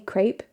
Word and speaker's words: crêpe: She says the proper way to say crepe is it rhymes with step.